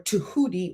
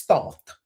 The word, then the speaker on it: Thoth: If you're in a temple of Thoth or Tuhut or Tahuti or Jehudi, depending on how you say it, it's Thoth, Thoth. Also Tuhut. Sometimes when you hear Arabic people say it, they say Tuhut.